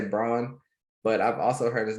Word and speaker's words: Braun: agree and you know his name is spelled b-r-a-u-n so i say brawn but i've also heard his names pronounced as brown that's weird to me